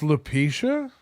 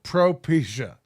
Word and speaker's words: Propecia: It's pronounced Lupetia? No, Propecia. It's a medicine for my hair.